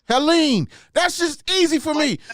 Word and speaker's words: Helene: on how you say it it's it's tori helene helene that's just easy for me because my grandson's